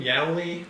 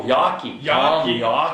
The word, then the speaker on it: Yawkey: How do you pronounce his name? Yowley? Oh, Yawkey.